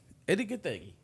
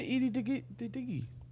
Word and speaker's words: Gathegi: No, you said Edie Diggy. Yeah, no, it's Eddie Gathegi.